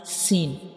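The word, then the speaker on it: سين: When we read Sin, we will stretch it for 3 seconds, and when we pronounce Sin, the whistle sounds come because this is a whistle letter, like Sin.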